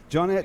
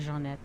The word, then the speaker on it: Johnette: It's spelled Yeah. John E-T-T-E, Right, not Jeanette. But do you say Right. Johnette or do you say Jeanette? Johnette. But in Johnette. Louisiana, I get a lot of Jeanette.